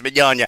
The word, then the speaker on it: Mignogna: Yes, I believe Mignogna. All right, oh boy, it's fun to say it. It's like Vic Lasagna, that would be easier to know, but it's Mignogna. The suit is also claiming